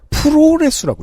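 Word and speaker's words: プロレス: 프로레스라고 읽습니다.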